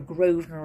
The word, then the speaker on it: Grosvenor: So anything that's got a Grosvenor estate or Grosvenor, and that's spelt with an S in it. So it's G-R-O-S-V-E-N-O-R. So the Grosvenor Hotel.